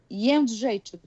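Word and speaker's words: Jędrzejczyk: Jedrzejczyk. Jedrzejczyk.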